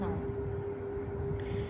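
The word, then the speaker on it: known: के is silent. के की कोई साउंड नहीं है लेकिन एन ओ डब्ल्यू एन की साउंड आ रही है नॉन।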